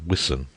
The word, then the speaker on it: Wiston: Wiston House, pronounced Wiston, is a gray tuda building in the midst of a wide park immediately under the hill.